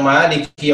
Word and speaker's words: مالك: Selanjutnya tentang maliki yaumiddin, yaitu ayat selanjutnya, beliau menjelaskan tentang huruf lam yang kasrah, yang mungkin di antara kita ada yang membaca bacaan li-nya itu seolah-olah ada huruf ya, sehingga menjadi huruf mat. Begitu juga dengan huruf kaf sama kasrah, seolah-olah dibaca harful matnya ada huruf ya di situ. Yang semestinya adalah tidak ada mat di dalamnya dan tidak ada huruf ya yang sukun di dalamnya. Sesuai apa yang dibacakan oleh Syekh tadi.